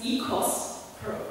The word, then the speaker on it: oikos: It's connected to Greek word, which I actually learned is EKOS, properly pronounced, and that's home, and that's basics of ecology and economics later, so that's why OIKOS.